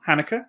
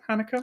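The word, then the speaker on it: Haneke: between us from this one filmmaker um michael hanukkah that you pronounce it hanukkah i think so yeah um so the piano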